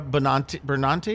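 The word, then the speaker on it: Benanti: And then some Broadway kind of veterans, Laura Benantes, is how you say it, and Jeremy Seamus.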